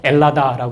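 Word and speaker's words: Ελλάδα: 자기네 나라를 헬라스 불러요 혹은 h 발음이 약해지고 좀 다른 형태를 써서 엘라다 부르기도 합니다 그 헬라스 비슷한 발음에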